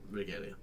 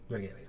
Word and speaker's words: Regalia: It is good for you, Mr. Regalia. Regalia. Sorry. It's alright. I lost all of the other syllable.